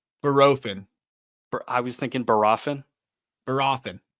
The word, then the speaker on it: Bohrofen: Barofin. I was thinking Barofin. Barofin. It's not Borofin. I think it's Barofin.